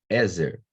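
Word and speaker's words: עזר: questão interessante do hebraico ezer por que que eu sei que é ezer e não exerce porque que eu sei que a tônica está na primeira sílaba e não na segunda eu tenho um acento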